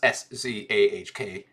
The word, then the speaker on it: Jacques: What the internet told me is Jacques is pronounced SZAHK, but David's first reading